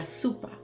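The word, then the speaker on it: sopa: catalanas in Spanish but remember o sound like you so it's probably going to be La Supa sugar no kind of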